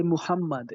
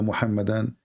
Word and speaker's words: Muhammad: How do you say? I say Muhammad. Is that how you say? Muhammad, yes, Muhammad.